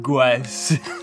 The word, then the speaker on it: Gauss: It's called Gauss or Goose. However you're supposed to pronounce that. Gauss.